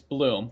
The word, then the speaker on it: Blum: Apparently it's not Blum, it's Bloom. For my entire life, and for our entire life, we've been pronouncing it Bloom, because it fucking looks like Bloom on, like, the TV.